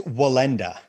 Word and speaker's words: Wallenda: the name my accent is hurting me from pronouncing your property it's wallenda wallenda wallenda yes sir wallenda okay i'm going